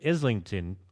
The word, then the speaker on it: Islington: is 5 dudes from Islington. See, I pronounced that right this time. I said Islington way back when in some other video where I mentioned it. So proud of myself.